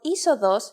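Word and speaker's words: είσοδος: If you sound out the first two letters, you get E, but actually you would pronounce the whole combination simply as E. The word isodos uses this combination and means entrance.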